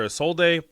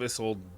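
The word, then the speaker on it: Isolde: why people call her a sold day I there there's no there's no Accent on that e it's a silent E it's Tristan and isold it's it's literally the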